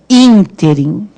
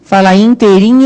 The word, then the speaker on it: ínterim: É ínterim. Quem fala interim errado.